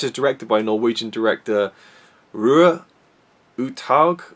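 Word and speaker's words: Roar Uthaug: This is directed by Norwegian director Rue Uthaug, which is as close as I can get to the Norwegian pronunciation of it.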